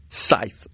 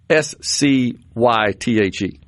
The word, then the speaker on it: scythe: Scythe. S S C Y T H E, right? Scythe. Okay. So, the C is soft there, not hard.